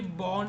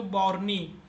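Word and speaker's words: Bourne: तो एक होती है बोर्न शेल।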